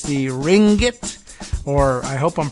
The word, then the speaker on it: Ringgit: heard of the Malaysian currency unit it's the Ringgit or I hope I'm pronouncing it uh even close to correct r-i-n-g-g-i-t